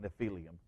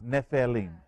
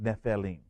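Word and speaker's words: Nephilim: for giant is nephelim some people call it nephelium but it's nepheline okay it it's actually pronounced nepheline okay now this comes from the root word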